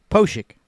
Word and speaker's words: Pospiech: is the brand name of the umbrella company posik thank you that's exactly exactly what you said